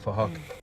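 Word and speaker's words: Phuc: His name is Fahak, but spelled with a PH, so it sounds like Fahak.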